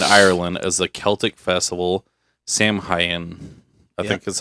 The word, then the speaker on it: Samhain: So Halloween originated in ancient Britain and Ireland as the Celtic festival Samhain. I Yeah. think that's how it's pronounced.